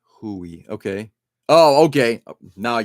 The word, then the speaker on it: Hue: It is pronounced Hue, but Hui.